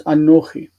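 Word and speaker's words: אָנֹכִי: Just like anochi, I becomes anochi.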